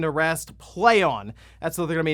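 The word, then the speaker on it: Plaion: the logo pretty straightforward as to how to pronounce that one right it's p-l-a-i-o-n okay I'll help you out it's it's play on which for what they want people to view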